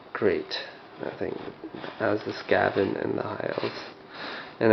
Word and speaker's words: Skaven: I think as the Skaven and the high elves. And I know I'm pronouncing it wrong, it's Skaven, but I like calling it Skaven for some reason.